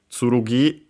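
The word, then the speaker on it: つるぎ: More often than not, you'll actually see the Chinese pronunciation ken, tsurugi accented on the last syllable, ken accented, and so actually on the first mora.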